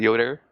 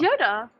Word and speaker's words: Yoda: Is it Yoder? Yoda. It's Yoda.